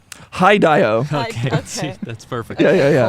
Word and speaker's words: Hideo: Hi, Dio.